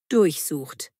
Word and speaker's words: durchsuchen: Betonung durchsucht.